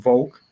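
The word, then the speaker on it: Wolk: And you pronounce my name Volk. And yeah, and I tend to tell English-speaking people that it's like the Volk in revoke.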